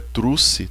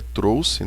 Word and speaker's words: trouxe: Não é trouxe, tá? Cuidado com a pronúncia aí. Eu trouxe, não, é trouxe, né?